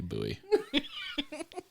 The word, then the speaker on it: Bowie: He's got his Bowie knife, except he pronounces it correctly, Bowie.